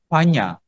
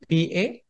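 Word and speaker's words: paññā: And then the fifth, wisdom, panya. How do you spell panya in Pali? Panna. N has that curve. Panya. The curve. Panya. Can you pronounce that word? Panya. Panya. Not panna. Panya.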